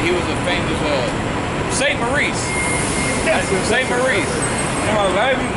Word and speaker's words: Maurice: But he was a famous, Saint Maurice.